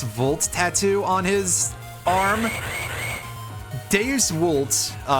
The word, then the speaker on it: Deus Vult: Deus Vult, to pronounce it a little bit more correctly with Latin, spelled D-E-U-S-V-U-L-T, 2 words, split between the 4 letters,